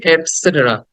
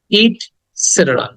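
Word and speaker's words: et cetera: উচ্চারণ হবে ইটস সেটেরা ইট সেটের ইট সেটেরা সেটের সেটের এটাকে দ্রুত বলতে হবে এখানে শর্ট সাউন্ড ইটসেটের ইটসেটের ওকে এটাকে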